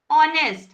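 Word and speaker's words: honest: ऑनेस्ट हां इसमें क्या साइलेंट है? एच साइलेंट है।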